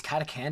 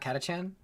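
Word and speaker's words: Katachan: guard and the poor Katakan jungle fighters who look like they spent around too many in the ring with Ivan Drago. This of course has it. Wait, it's Katakan, not Katachchan?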